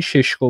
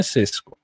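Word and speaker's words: Šeško: ببین مثلاً این شاید به زبان محلی کشور خودش این ششکو باشه خب ولی من کلاً سعی می‌کنم اسما رو چون معمولاً از منابع انگلیسی و اخبارا انگلیسی می‌بینم چون اونا مثلاً میگن ناخودآگاه تلفظ اسما به صورت اونایی که انگلیسیا میگن میشه حالا زبان بین‌المللی دنیام هست دیگه انگلیسیا بهش میگن سسکو حالا شما می‌خوای بگی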